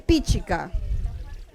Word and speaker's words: pichica: Vamos a ver pichica. La fuerza de pronunciación es el acento de pronunciación, ¿no? O sea, el acento prosódico. Es lo mismo, ¿no? Pichica, la fuerza está en pi.